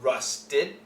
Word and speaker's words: rusted: so uh rusted rusted keep the te here here and make an extra syllable a rusted and we have a stop sound here with the D rusted you feel the vibration but don't finish it rusted no just rusted